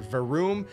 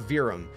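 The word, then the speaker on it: Verum: apparently it's not varun remember it's v or varum not virum uh rather that's how you pronounce that okay moving on he says uh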